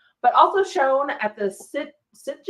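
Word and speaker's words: Sitges: also shown at the sit sites is that how you say it something like that it's sites yeah okay earning a nomination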